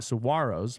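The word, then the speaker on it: saguaros: the day among sigar saros below. Got to not pronounce the G.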